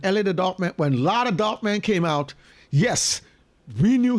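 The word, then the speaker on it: La the Darkman: the dark man his name is pronoun is pronounced law the dark the dark man that's true that's true but I live here in New York okay and when ell the dark man when lot of dark man came out yes we knew his name was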